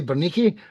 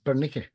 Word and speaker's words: Bernik: it right this time I always say beri but it's bernik I think I'm learning